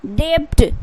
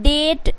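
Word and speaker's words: debt: बोलिएगा आप डेप्ट क्योंकि डी ई से डे बी से ब टी से ट डेप्ट बट यहां पे क्या है बी जो है गाइज टी से पहले आया भी साइलेंट होगा तो क्या हो जाएगा डेट क्या है डेट उसी तरीके से क्या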